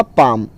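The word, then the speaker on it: palm: Next है आपका पाम। पाम का मतलब होता है हथेली, जो हाथ की जो हथेली होती है उसको इंग्लिश में पाम बोला जाता है, और इसमें एल वर्ड जो है वो साइलेंट है।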